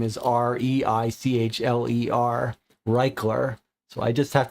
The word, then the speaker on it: Reichler: my last name is r e i c h l e r reichler so I just have to remember the way you pronounce my last name tells you whether it's read or write and then C is